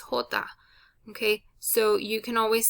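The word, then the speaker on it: jota: is the j okay the j is always going to sound like an h okay and the way you say the letter j the name of the letter is hota okay so you can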